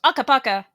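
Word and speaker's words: Akabaka: They actually say it like when the game loads up. It goes Aka Baka.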